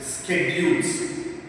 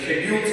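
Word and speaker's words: schedule: the next this is ಸ್ಕೆಡ್ಯೂಲ್ಸ್ ನಾನು ಸಾಮಾನ್ಯವಾಗಿ ಇದನ್ನ ಶೆಡ್ಯೂಲ್ಸ್ ಅಂತೀವಿ ಬಹಳ ಲೋಕೋಡಿಯಲ್ಲಿ ಮಾತನಾಡುತ್ತವೆ ಬಟ್ ಇದನ್ನ ಉಚ್ಚಾರಣೆಯನ್ನ ಮಾಡಬೇಕಾಗಿರತಕಂತದ್ದು ಸ್ಕೆಡ್ಯೂಲ್ ಅಂತ ಸ್ಕೆಡ್ಯೂಲ್ ಅಂದ್ರೆ ಯಾವುದು ನಿಗದಿಯಾಗಿರುತ್ತೆ ಪರ್ಟಿಕ್ುಲರ್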